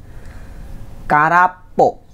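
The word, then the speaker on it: 空っぽ: Ini biasanya muncul dalam bentuk seperti ini. Karapo. Bukan kara gitu doang ya.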